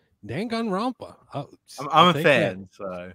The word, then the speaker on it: Danganronpa: Next game is Danganronpa Trilogy. Oh shit, you nailed it. Danganronpa.